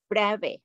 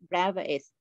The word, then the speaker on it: Bravais: french physicist named um the reason we don't pronounce is here because it's it's it's just french okay so brave okay not brevis okay point space is the set consisting of